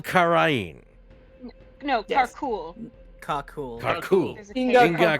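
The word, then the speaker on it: Karkhuul: we didn't do the make sure everyone knows how to pronounce things thing. This is why we need to do it. He's Inga Karul Karain. No, Yes. Karkul.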